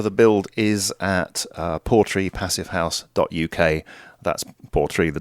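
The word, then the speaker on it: Portree: the website for the build is at uh porry passive house.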